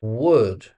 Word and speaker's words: would: Would. Now would is another polite word. Has a silent L. It's it sounds exactly like wood from a tree.